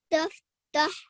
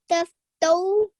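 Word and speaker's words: تفتؤا: Nearly, the way you're pronouncing it is as if there was a sakin or sukoon on this hamza. So you're doing a bit of a jerking sound. But because there's a dhamma on here, that needs to be heard, and that's a oo sound.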